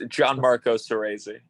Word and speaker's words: Gianmarco Soresi: This is an one-on-one interview with Gianmarco Soresi. Am I saying it correctly? I mean, it's so close. I Okay. hate to. It's Gianmarco Soresi.